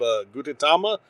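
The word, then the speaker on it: Gudetama: I've got her a couple of things of I'm going to mispronounce this, but the fake egg can come fight me. It's called Gutitama, the lazy egg.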